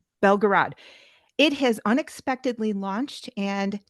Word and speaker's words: Belgorod: The Belgorod or Belgorod? Belgorod.